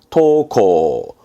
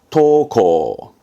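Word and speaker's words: 登校: 등짜지요 그래서 등교하는 겁니다 발음은 토코 토코 어렵지 않죠네 하교 등교에서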